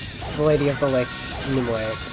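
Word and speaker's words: Nimue: Lady of the Lake nimway or nimu as it's pronounced in the game I don't know how it's supposed to be he doesn't have his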